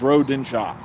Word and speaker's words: Rodentia: Fu Bob species on rodentia they asked to pronounce proper pronunciation of his home world is Road dinsha I got three